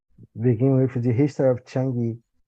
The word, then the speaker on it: Chang'e: And I'll begin with the history of Chang'e. Chang'e, I don't know how to say in Chinese. That's right. You're saying it correctly.